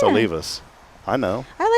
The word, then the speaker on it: Olivas: So that's when I tell people how to pronounce it, I'm like Olivus. Like oh leave us alone. That's it's easy. It's Olivus. O L I V A S. O leave us.